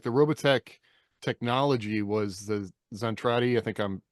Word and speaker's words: Zentradi: Like the Robotech technology was the Zentradi. I think I'm mispronouncing that, but no, that's right.